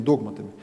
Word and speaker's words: догматами: Или, если правильно поставить ударение, догматами.